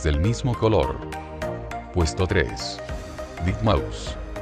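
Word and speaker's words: deadmau5: mismo color puesto tres de Mouse pronunciado como ratón muerto en español es un DJ y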